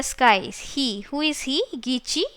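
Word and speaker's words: Gitche: and his name was gichi manido don't say git che it is gichi t is silent and many do though it is written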